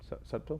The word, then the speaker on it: subtle: Subtle? Is there a B in that? How do you pronounce that? Subtle. Subtle. Okay, well, I'm adding B's. Like cuttlefish. It's a silent B.